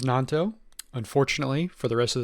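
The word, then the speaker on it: Gnonto: have brought in Wilfred gonato like to apologize to uh all Leeds United fans out there and Willie himself for mispronouncing your name I know it is nonto unfortunately for the rest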